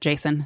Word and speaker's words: JSON: Jason is uh and it is Json just for those I just sort of pronounce it Jason so sorry if I'm